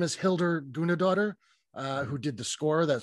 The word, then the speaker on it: Hildur Guðnadóttir: Joaquin Phoenix won Best Picture, and I believe this is how it's pronounced. I believe her name is Hildur Guðnadóttir, who did the score, that sort of haunting, like, dual cello thing.